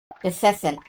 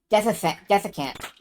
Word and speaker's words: desiccant: I forget how exactly you pronounce that word. Dissecant. Desiccant.